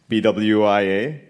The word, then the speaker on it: BWIA: BWIA, British West Indian Airways, pronounced BWI, was the national airline of Trinidad and Tobago and was carrying us to Canada.